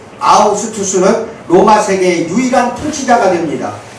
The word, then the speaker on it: 아우구스투스: 그래서 우리는 누가가 이 이야기를 소개하면서 저 멀리 로마의 권력의 정점에 있던 아우구스투스 황제를 언급한 점을 반드시 기억해야 돼요. 방금 누가복음 2장 1절 대충 읽었지? 아구스도라고 나와. 빨리 찾아봐요. 아구스도가 정확한 발음은 아우구스투스예요.